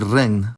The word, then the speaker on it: regn: Finally, ng is pronounced [ŋ], and on a similar note, the digraph gn results in the interesting cluster of , like in the word regn.